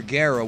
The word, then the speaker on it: Gero: Gero, which is the right way to say his name, the way that the